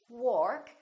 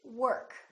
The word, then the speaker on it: work: is a difficult one a lot of people would say work that's incorrect don't say I go to work say I go to work or worry don't say